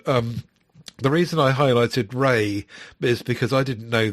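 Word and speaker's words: Rhea: And um the reason I highlighted Rey is because I didn't know this up till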